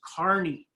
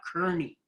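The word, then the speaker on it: Kearny: of years ago, and they told everyone it was correctly pronounced Kearney, not Kearney.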